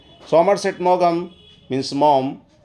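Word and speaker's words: Maugham: author Somerset मोगम से इसको दोस्तों मॉम पढ़ा जाता है लेकिन मैं हमेशा इसको मोगम ही पढ़ता था स्पेलिंग याद करने के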